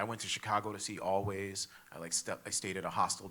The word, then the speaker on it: Alvvays: So there's a band called Always, and I think they're from Canada, but I'm not sure. And it's spelled Alvvays.